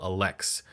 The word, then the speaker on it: Elex: look at the focal alex that's right alex nobody has ever said this any other way there's only one way to pronounce this and every other pronunciation is incorrect we're gonna take a